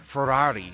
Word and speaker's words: Ferrari: world number seven ferrari even the word ferrari sounds excessive each of its three syllables stretching out as much as possible it sounds like champagne